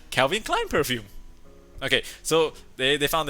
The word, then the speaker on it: Calvin Klein: But did you know that they also like Calvin Klein? Is that how you say it? Calvin Klein.